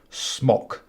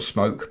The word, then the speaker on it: Smok: And these incidentally are made by a company called Smock. Not smoke, but smock.